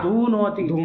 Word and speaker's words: धूनोति: धू नोती हाँ। धू दीर्घ है।